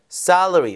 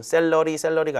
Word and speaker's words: salary: 직업을 고를 때 가장 중요한 것은 salary. 그럼 샐러리가 아니라 salary 이렇게 발음해서 이른적 강세 주시고요.